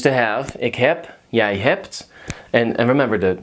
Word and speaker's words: heb: Ik heb, jij hebt. And remember, the B is not heb. It's pronounced like a P.